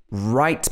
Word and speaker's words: write: more pattern for you when r comes after w most of the time it's not pronounced for example in right write me a postcard write